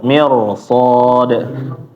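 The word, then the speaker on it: مرصاد: Jadi bukan mir mirs mir tapi mir mirsod.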